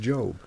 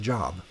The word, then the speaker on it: Job: We go go on to the book of Job which is confusing to some people because it's because it's spelled like Job, right?